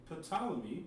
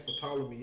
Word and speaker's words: Ptolemy: It's about the Roman kings and the Greek kings, and it has Ptolemy in there, and it tells you who he is, and you know what I'm saying. Ptolemy is spelled Ptolemee.